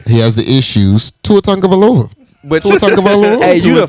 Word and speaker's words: Tua Tagovailoa: Tua Tagovailoa. But Tua Tagovailoa. hey, you Tua the first Tagovailoa. nigga I've ever heard pronounce his name.